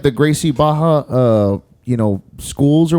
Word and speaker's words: Barra: see like the gracie baja uh you know schools or whatever in in brazil they don't pronounce their r's it's an h sound and i don't know